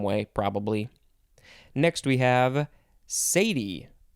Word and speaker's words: cedi: probably next we have sadie yeah sadie but it is spelled c-e-d-i that's not how i would want to pronounce it but that's what the book tells me it is a noun